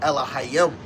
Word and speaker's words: Elohim: Now it's going to say Elohim, but in Paleo Hebrew and the right way to say it is Elohim.